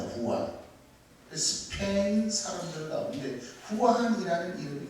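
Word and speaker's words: Juan: 저 스페인어로 이 요한이 후안입니다. 후안.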